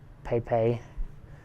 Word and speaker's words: Pepe: Once a month for the last decade, Pepe, pronounced Pepe, Casanas, a 78-year-old Cuban